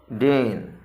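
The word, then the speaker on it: deign: तो देखिए इनका प्रोनाउंसिएशन वेट, और ये है डेन।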